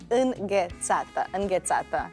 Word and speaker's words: înghețată: Could you say like the sound is the most difficult because it doesn't exist in Catalan, so it's înghețată.